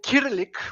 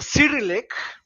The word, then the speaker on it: Cyrillic: Bulgarian Empire was the country that created the kyrillic or the Cyrillic if you insist of the wrong pronunciation alphabet is it acrylic is that how